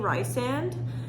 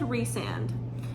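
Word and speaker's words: Rhysand: straight facts out there and she said resand so which is so funny because like I do call him Rhys like that's how I pronounce it when it's when they use his nickname in the books so I say Rye sand and Rhys which like I had a feeling Rye sand was wrong but I feel like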